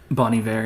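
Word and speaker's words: Bon Iver: to start with a bony ver B bony ver how do you say it bony ver yeah Bon album which one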